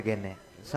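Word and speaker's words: Gagné: Robert गैगनॉन। आम तौर पर गैग्ने कहते हैं। ऐसा कहा जाता है कि यह G का उच्चारण मौन होता है।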